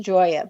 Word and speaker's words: Gioia: And I want to spell your last name for everyone because it's pronounced Joya, but it's spelled G I O I A.